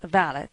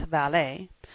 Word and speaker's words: valet: The valet, pronounced valet, not valet, is what Beau Brummell called a gentleman's gentleman.